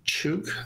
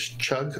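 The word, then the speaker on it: חוג: K-H-O-O-G, Chug, I think the translation is Chug or Chug, pronounced perhaps.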